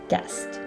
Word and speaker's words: guest: searching next up is the silent u and that is when it comes after a g as in go and before a vowel for example guide and guest and last but not